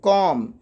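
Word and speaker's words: comb: तो क्या पढ़ेंगे बम बी साइलेंट हो गया कॉम कॉम B silent okay अगले रूल की तरफ बढ़ते हैं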